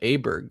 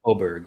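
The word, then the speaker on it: Åberg: I think it's pronounced Oberg. Oberg. Yeah. Oh, that makes sense. Because he's like from Swedish or Sweden.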